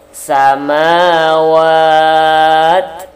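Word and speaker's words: سماوات: Jadi bacanya samawat. Ada bunyi desis anginnya.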